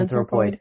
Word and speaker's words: Anthropoid: Is that how it's pronounced? Poid? Yeah. Anthropoid.